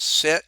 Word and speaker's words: sinh: Sometimes they'll pronounce it sinh, even though there's not a C in there, where cosine, hyperbolic cosine would be cosh.